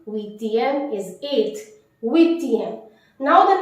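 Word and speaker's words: huitième: Wheatium. Wheatium is 8th.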